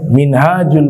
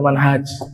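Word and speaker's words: منهاج: Antum kalau membedakan cara baca Minhaj dengan manhaj itu sangat mudah. Kalau huruf H-nya panjang, kalau gundul ya tidak berharakat. H-nya panjang. Minhaj itu bacanya minhaj bukan manhaj. Tapi kalau antum temukan huruf ha-nya tidak ada alif, maka dibacanya bukan minhaj tapi manhaj. itu kaidahnya.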